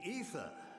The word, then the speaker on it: Aether: risk caller ether yes it's pronounced ether this is the full it's a true pronunciation Aether sucks assumed daily activities